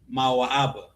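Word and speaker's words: מואב: Right here, how do you say Moab in Hebrew? Mawa'aba.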